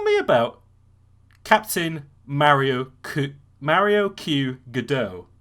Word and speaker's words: Mario Q. Godot: about captain mario ku mario q godot uh did i pronounce that correctly yes you did excellent so um yeah